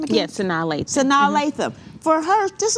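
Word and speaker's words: Sanaa Lathan: Yes, Sanaa Latham.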